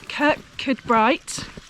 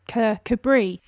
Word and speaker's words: Kirkcudbright: rockliffe morning everyone morning we are currently in kirk could bright not gonna lie i totally said it wrong in the video clip it's actually pronounced cabri and we decided to just come into town